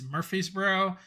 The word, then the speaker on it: Murfreesboro: one interesting thing to note is how you pronounce it and it's Murfreesboro and it was not easy for me to